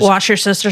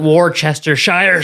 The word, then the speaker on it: Worcestershire: Just, Wash your sister sauce. I call it Worcestershire sauce, just because I'm a little crazy.